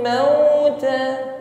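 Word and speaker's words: الموت: minuninasi fatamannul mauta mauta perhatikan ketika mengucapkan wau sukun yang sebelumnya didahului harakat fathah ya di sini harfulin ya ada huruf Lin sempurnakan pengucapannya dengan bid syafatain himpun bibir ke depan mauta sehingga bunyinya benar-benar u tidak miring pada u maut ya ketika bibir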